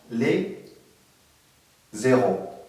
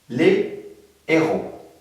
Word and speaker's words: héros: Et ce n'est pas les zéros. Je répète, un héros, le héros, les héros. Il est interdit d'écrire l'héros ou bien de prononcer les zéros.